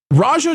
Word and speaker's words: Raja: Raja Jackson, is that how we pronounce the man's name, Marvin? Yeah, like the tiger.